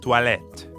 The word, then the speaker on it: toilettes: There's an S at the end of the word for bathrooms, even though you don't pronounce it. Toilette. Toilette. Perfect. We're hearing the same ah sound that we hear in croissant, or at the end of bonsoir. Croix.